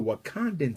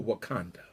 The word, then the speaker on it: Wakanda: It's time for a real Wakanda. And if you're wondering why Wakanda rhymes with Uganda, if you're wondering why Wakanda rhymes with Uganda, it's because the original